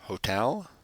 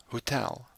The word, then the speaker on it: hotel: the next word is hotel and in Africans that is Hotel so we pronounce this o as an U Hotel example sentence the